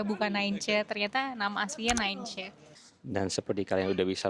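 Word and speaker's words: Nijntje: Sebelum aku ke sini aku juga tahunya ini namanya Mii ya bukan Nain ternyata nama aslinya Ninch.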